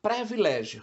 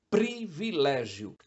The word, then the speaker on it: privilégio: pré é muito usado há uma tendência a se falar previlégio só que esta palavra vem do latim privilegium priv de priv privado e legum de Lex lei Então etimologicamente significa lei privada isto é uma Norma que não é para todos só para alguns portanto privilégio ar ou degladiar gládio